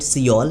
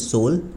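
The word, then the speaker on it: Seoul: We Indians use to call it सियोल, बट नो, the exact pronunciation is सोल।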